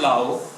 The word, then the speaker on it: Laos: Pero pagpronounce ko yun Silent S. So I I come from law. I came from law.